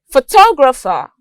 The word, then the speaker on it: photographer: The next one we have is photographer. The stress is on toe.